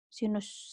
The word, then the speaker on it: sin: Sin dibacanya walaupun ini kan notasi ya. Sinus bacanya tetap sinus, sinus.